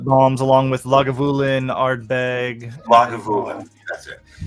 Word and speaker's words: Lagavulin: Lagavulin.